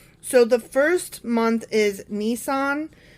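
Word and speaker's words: Nisan: So, the first month is Nissan. N I S. I'm assuming that's how it's pronounced. Like the car.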